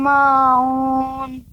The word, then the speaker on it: الماعون: Wayam na'unal ma'un. Nanya tidak panjang Fauzi. Wayamna'u. Tadi Fauzi bacanya panjang.